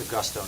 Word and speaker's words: Augusto: It's Augusto, not Agudo, right?